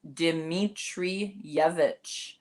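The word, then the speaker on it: Dimitrijević: It's Dimitrijevic. So Okay. Dimitrijevic. The J is like a Y.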